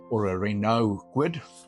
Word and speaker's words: Renault: In South Africa, we get a car called a Reynold Quidd or a Renault Quidd. Depends on where you are in the in the world and how you pronounce Renault. Um, we say Reynold.